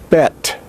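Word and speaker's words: בית: with a dagesh, and it is pronounced as a B, or a hard B, which is a stop, a bilabial stop and voiced.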